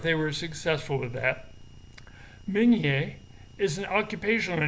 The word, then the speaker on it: Meunier: my family name junior is actually correctly pronounced migne i'm not sure who americanized it along the way but i suppose that